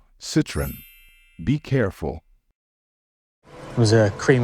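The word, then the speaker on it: Citroën: this French car brand many non-native speakers tend to say it as citen putting the stress on the last syllable however in English the stress falls on the first syllable moreover in English there are only only two syllables so the correct pronunciation is citen be careful was a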